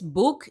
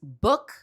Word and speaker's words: book: No es book ni look, es book y look.